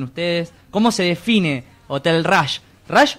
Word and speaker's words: Rush: Pero lo escribimos como se pronuncia en rosarino, R-U-S-H, Rush.